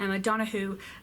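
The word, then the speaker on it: Donoghue: book I finished was the Wonder by a Madonna who which is actually how you pronounce it as I have recently confirmed this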